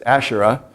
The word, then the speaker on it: Asherah: Actually, El had a wife named Asherah, and we see that term in the Bible, usually pronounce it as Asherah.